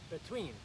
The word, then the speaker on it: between: Between. And again, notice that accent is on the second syllable.